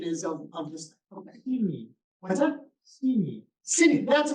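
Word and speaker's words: синий: So who else but a native Russian speaker would say blue rather than, or whatever the Russian pronunciation is of this thing? Okay. Sini.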